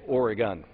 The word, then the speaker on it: Oregon: one minor Point uh we say Oregon and since the Ducks are going to win the national championship this year we want to make sure everybody knows how to say it properly thank you uh uh